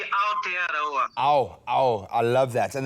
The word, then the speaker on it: Aotearoa: is so called, and I hope I'm pronouncing this right, Super Rugby Aotearoa. Is that right? Almost G, Aotearoa.